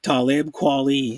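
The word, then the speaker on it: Talib Kweli: the dual composers of rapper most deaf and talib quality that's how you say his name they're they're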